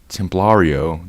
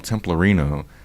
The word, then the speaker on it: Templario: I think I've been calling Templario. That's how you say it. I've been calling him Templarino because that's how it was translated in that process I just mentioned.